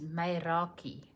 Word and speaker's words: Meraki: So this word and I know this is the pronunciation because it gives it to you on the screen is maki and um it is doing something with total love and pure soul.